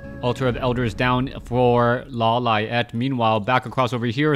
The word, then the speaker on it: Lawliet: with foggy I am trying to get used to saying Lala yet as that is the correct way to pronounce his name as many people have